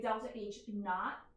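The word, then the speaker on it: ΔH°: not a degree sign if you want to pronounce it verbally you would say Delta H naught but that not whenever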